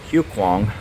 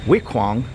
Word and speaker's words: Huai Khwang: it up to and I've been saying hu kuang the MRT speaker lady said W kuang so I'm sure I'm pronouncing that incorrect now my friend is